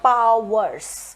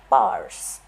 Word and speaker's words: powers: one word of advice Powers is one syllable according to native English speakers it's not Powers we don't pronounce it that way we call it parse okay so it's one